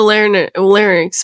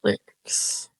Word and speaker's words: larynx: What is the larynx made out of? Fucking cartilage, motherfucker. No, not lyrics. Lyrics. What are lyrics made out of? How am I saying it wrong? Larynx. Larynx.